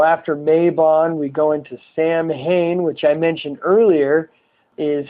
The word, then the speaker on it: Samhain: Mabon we go into Samhain which I mentioned earlier is Halloween sometimes it's pronounced saw one and of all the